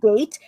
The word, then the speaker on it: Date: His name is Masamune Date. It's spelled as date, but you put Date.